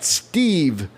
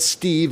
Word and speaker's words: Stiv: You can check him out at Stiv, Thank you. and it's spelled S-T-I-V. I know we've said Steve, and it's pretty easier than Stiv, but it's at STIV_AWD.